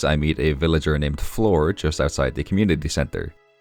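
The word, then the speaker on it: Flor: It's like that, but Floor is spelled F-L-O-R because this villager's name is Floor.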